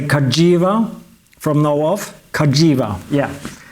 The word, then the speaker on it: Cagiva: since I bought it the name is supposed to be pronounced Kaja with a G for giovan so I'll try to remember to say Kaja from now off Kaja